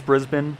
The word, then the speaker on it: Brisbane: Right, it's Brisbane, just like Melbourne.